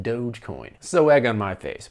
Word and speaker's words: Dogecoin: i was like oh you mean dodge coin and they said no it's pronounced dogecoin so egg on my